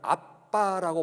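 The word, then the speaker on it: אבא: 이때 아바, 여러분 잘 아는 대로 히브리 사람들도 이 아바를 아빠라고 발음을 해요.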